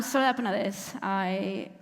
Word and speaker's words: Soledad Penadés: So Spanish names have this thing where most of the words have the stress on the last syllable. So it was like coaching Mark with like ta ta ta ta ta ta. That's how you say my name, and it actually worked.